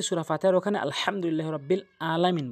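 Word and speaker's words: العالمين: ফাতেহার ওখানে আলহামদুলিল্লাহি রাব্বিল আলামিন বলে আলামিন জায়গায় হামজা উচ্চারণ করে ভুল অর্থ দ্বারা নামাজ ভেঙ্গে যায় আইন বলতে হবে জামা জামা তাহলে 29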